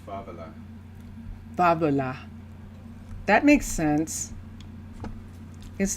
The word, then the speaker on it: favela: I'm pronouncing it in Spanish. But in Portuguese? In Portuguese, I believe it is favela.